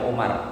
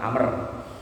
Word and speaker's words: Amr: Itu bacanya bukan Umar, Amr. Kalau nggak ada wawu itu baru dibaca Umar, itu kan ada wawunya.